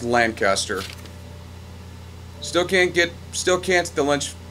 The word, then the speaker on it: Lancaster: new pistol anything new and repeaters apparently that's pronounced Lancaster still can't get still can't still lunch can't